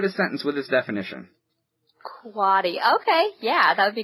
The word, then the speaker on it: quotty: QUOTTY, pronounced quatty.